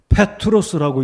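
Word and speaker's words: Πέτρος: 해석이죠 자 여기서 바른상 베드로는 페트로스라고 읽을 수 있습니다 헬라어 발음으로 페트로스 내가 네게 이르노니 너는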